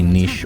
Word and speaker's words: niche: And I am fine with Holy Locket being a very niche or niche item, depending on what way you want to pronounce it, Cinderin.